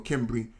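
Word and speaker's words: Cimbri: A.D migratory hordes of kimbri from pronouncing that word correctly is either symbi or kimbry uh to Tony and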